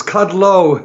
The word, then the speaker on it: Kudlow: sorry about that oh it's cut low and it's not ludlow like the street in new york that's right which is